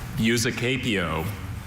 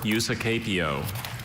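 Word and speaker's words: usucapio: Eusacapio or Eusacapio.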